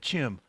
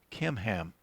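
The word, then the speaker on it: Chimham: but here is your servant kim ham now at first i was pronouncing that chim but i was looking it up and it's pronounced with a k kim ham let him uh and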